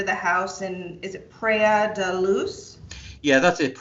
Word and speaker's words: Praia da Luz: was taken to the house in, is it Praia da Luz? Yeah, that's it. It's Praia da Luz.